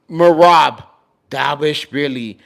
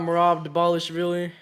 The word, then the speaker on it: Merab Dvalishvili: No, Merab Dvalishvili over a Corey Sandhagen, like a Corey, bro.